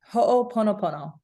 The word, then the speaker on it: ho'oponopono: Ho'oponopono. Yeah. Cool. So ho'oponopono is a really deep practice that I want to, culturally speaking, it would not be appropriate for me to say, yes, I do ho'oponopono and I'm a teacher of this.